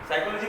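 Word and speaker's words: psychology: पी से ही है, साइकोलॉजी पी से है कि एस से है? क्यों साइकोलॉजिस्ट साहब बोल रहा हूँ, पी से कैसे होगा? पी इसमें साइलेंट होता है।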